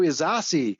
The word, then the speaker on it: Ysasi: name right you know the pronunciation it's almost like a sauce Gardener you know I'm a